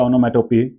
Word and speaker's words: onomatopoeia: और जो next term है आपकी वो है ओनोमेटोपी, प्रोनाउंसिएशन इज ओनोमेटोपी, और a word that sounds like the noise it describes.